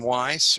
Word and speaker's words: Weiss: This is Weiss, rhymes with nice, and we are two old guys.